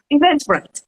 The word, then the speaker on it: Eventbrite: Hay páginas que, Ricardo, yo te pregunté cómo se pronunciaba porque es que mi inglés a veces me falla. Se llama... Eventbrite. Eventbrite, thank you.